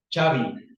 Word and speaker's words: Xavi: Xavi. No Xavi. Xavi. ¿Por qué? Porque está obedeciendo a esta pronunciación. Viene del griego.